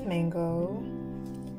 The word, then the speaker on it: Manguo: Um so this is Manguo. It's. So the pronunciation is "Mang (second tone) guo (third tone)" as in the Chinese version of mango and it's inspired on their fur color.